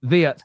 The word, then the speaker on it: Wirtz: Well, and that's why it's Wirtz, because it's not a W, it's a V, right? It's no, he is written. His name is written with a W, yes, but it's Wirtz. Wirtz. Okay, but it makes like the V sound.